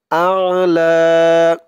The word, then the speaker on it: الأعلى: সাব্বিহ ইসমা রব্বিকাল আ'লা। আ হামজা দিয়ে আইন ধরবে, উচ্চারণটা শক্ত করতে হবে। আ আ'লা। এখানে এক আলিফ টান দিতে হবে।